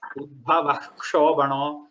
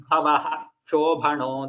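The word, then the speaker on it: उद्भवः शोभनः: You should not say Udbhava Shobhano. You should not say it like that. That is a clear rule. Okay. You have to say Udbhavaha Shobhano Devaha.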